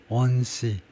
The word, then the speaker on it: onesie: 원시라는 이게 원이 들어가 있기 때문에 발음부터 한번 점검을 해보면 구글링해서 onesie, Z 발음을 했네요.